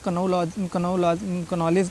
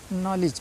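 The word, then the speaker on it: knowledge: क्योंकि के साइलेंट है के का प्रोनाउंस नहीं करना है नॉलेज नॉलेज लिखा है ना इसको बहुत से बच्चे कन नॉलेज पढ़ते हैं या कुछ पढ़ते हैं ठीक है तो इसमें के क्या है मुक है साइलेंट है के आप भूल जाइए उसको प्रोनाउंस उसका प्रोनाउंस मत करिए सीधे आप इसको नॉलेज पढ़िए ठीक है यह हमेशा ध्यान रखना है एन से पहले अगर कहीं भी के आ जाता है तो के साइलेंट हो जाता है मख हो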